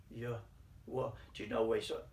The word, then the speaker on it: Yahweh: sound with three letters like the yhw is pronounced yeah well or listen to this yw it's pronounced ya well do you know where so ancient way back